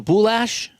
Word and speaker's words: Boulage: Boulage rhymes with goulash. So boulash?